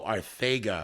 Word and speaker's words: Arcega-Whiteside: Oh, Arcega. Which is how I would expect you to pronounce it incorrectly, but it's actually correctly.